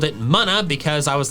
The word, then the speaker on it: Munna: The official pronunciation is Muna. Muna. Its name comes from the Japanese word mu, which means dream, and Luna. Therefore, the pronunciation Muna makes perfect sense.